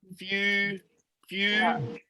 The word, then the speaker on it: future: It's usually we say ch. So it's like future.